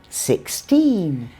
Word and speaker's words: sixteen: So stress the second syllable in teen numbers. Exactly. 60, 16.